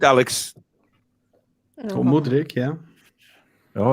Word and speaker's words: Mudryk: Mikhailo Mudryk. I wouldn't be surprised. Purely for price. I think we can. Did he pronounce that right, Alex? Oh, Mudryk, yeah.